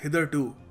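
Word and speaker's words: hitherto: हैं इसको देखो इसको प्रोनाउंस करने का सही तरीका है हदर टू हदर टू अब इसका मतलब बड़ा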